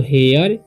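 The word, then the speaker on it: here: हेयर, हेयर मतलब होता है यहाँ, और ई आर ई जब भी किसी वर्ड के लास्ट में रहे तो उसका उच्चारण हो जाता है एयर, ठीक, तो हेयर।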